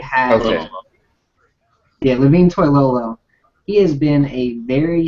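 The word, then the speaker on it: Toilolo: the the development of toy loo is that how you say his name that's exactly how you say it has yeah LaVine Toyo he has been a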